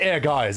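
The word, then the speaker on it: Ehrgeiz: Um, air gaze will be great. It's pronounced air guys, isn't it? But I I just called it air gaze.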